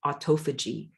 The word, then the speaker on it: autophagy: you can do is there's a process called autophage you or some people pronounce it autophagy a-u-t-o-p-h-a-g-y it's a similar